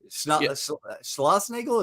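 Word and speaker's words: Schlossnagle: Schlossnagel, is that how you pronounce it? Yeah.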